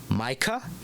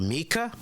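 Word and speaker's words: Myka: under the name of hopefully I'm pronouncing this right Micah or Mika it looks like Micah uh m-y-k-a and she's wrestled under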